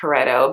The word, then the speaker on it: Pareto: I think it's pronounced Pareto.